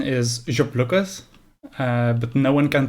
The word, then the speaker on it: Ziopliukas: The original pronunciation is Ziopliukas, but no one can pronounce that.